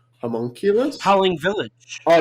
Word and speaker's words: Homunculus: I watched a Takashi Shimizu film called Homunculus.